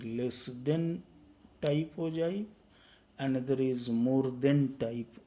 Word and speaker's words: ogive: So, it is pronounced as ogive, and since it is related to cumulative frequency